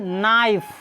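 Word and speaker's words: knife: lives उसके बाद है नाइफ देखो के इसमें नहीं बुलाएगा सीधे बोला जाएगा ए आई एफ इ नाइफ के चुप रहता है के क्या है इसमें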